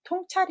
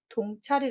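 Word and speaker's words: 洞察: 항상 그렇게 쉽지 않습니다 답은 통찰이 입니다 동 차리라고 읽으시기 딱 좋죠 2골 종자의 받았다 통할 통발 글 통해 라는 뜻이 있습니다 아서 밝게 모든 것들에 다 아는걸 통찰이라고 할 때 씁니다 동철이 라고 읽으시면 안됩니다 두번째 한번 읽어 보시겠습니까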